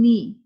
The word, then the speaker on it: knee: Remember I told you whenever there is a K before N, then you will not take the sound of K out. Only we start from knee. The K is silent.